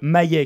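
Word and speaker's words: M.I.A.: C'est le nouvel album de Maye, qui s'écrit M.I.A, la chanteuse américano-sri-lankaise.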